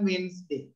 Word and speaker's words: Wednesday: හැබැයි pronunciation Wednesday.